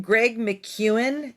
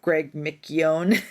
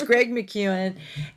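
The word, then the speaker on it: Greg McKeown: so tip number two um so I actually Greg McEwen it's weird how it's pronounced because I always thought it was Greg mcgeone but it's it's Greg McEwen and um he wrote the books essentialism and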